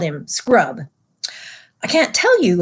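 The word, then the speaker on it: Scrubb: I mispronounced his name. I should start again and say there was a boy called Eustace Clarence Scrub, not Scruggs, but Scrub, and he almost deserved it.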